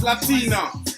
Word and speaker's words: Lateena: It's Latina. The name is spelled Lateena.